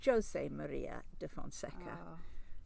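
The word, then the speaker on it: José Maria da Fonseca: in fact i think being portuguese it's jose maria de fonseca you know like special one jose mourinho yeah okay i will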